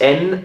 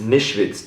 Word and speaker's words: Nischwitz: I mean, so it's can you pronounce the surname for me? Dr. This one? Yes. Nischwitz is Nischwitz. Dr. Nischwitz is my name.